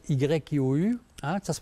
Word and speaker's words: Hu: Alors, avec un mantra spirituel qui s'appelle le chant du Hu, ça s'écrit H-U, mais ça se prononce Y-I-O-U.